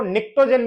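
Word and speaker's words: pnictogen: नाइट्रोजन family को निक्टोजन भी बोलते हैं। पी साइलेंट है इसमें।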